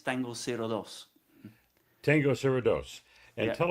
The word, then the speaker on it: Tango 02: Well, in English, yes, but we pronounce it in Spanish, man. It's Tango 02.